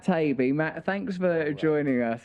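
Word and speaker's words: Taibbi: without perhaps uttering the names that rhyme with baby and maybe yes it's Matt tabey Matt thanks for joining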